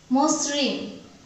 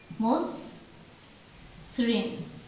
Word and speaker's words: মসৃণ: Recur যুক্ত হয়েছে, তাহলে এই আদ্য অ ময়ের উচ্চারণটা হয়ে যাচ্ছে ওকার। মসৃণ।